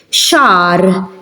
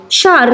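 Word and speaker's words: xahar: Shar. Shar means month in Maltese. Shar. As you can hear, I'm not pronouncing it, it's silent.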